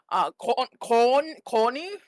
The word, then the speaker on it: Korny: Corny? Yeah, just corny. It's like corn, but it's like corny, like a corny joke, but it's spelled with a K instead of a C.